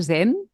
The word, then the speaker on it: zen: así no Ana María zen es como una s Sonora zen sí es como una Z Sonora como sí zen zen